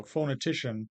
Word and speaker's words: phonetician: of phonetician right so phonetician the ti that third syllable is definitely primarily stressed but in the phona part the foe is more stressed than the no so we have two syllables with schwa's the second and the fourth the other syllables the first and third are stressed uh secondary stress on the first one primary stress on the third so you see the high tick and the low tick okay and finally languages